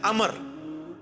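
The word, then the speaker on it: عمرو: वो लफ्ज़ गलत है लफ्ज़ उमरू तो कोई लफ्ज़ नहीं है लब्ज है अमर लिखा होता है उम्र लेकिन उसका मतलब वो जो है वो साइलेंट होता है और वो का मतलब यह है की आपने इसे पेस की बजे उम्र की विजय पढ़ना है अमर तो हजरत अल्लाह इसका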